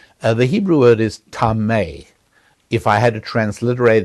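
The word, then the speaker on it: טמא: the Hebrew scripture uh the Hebrew word is tame if I had to transliterate it into English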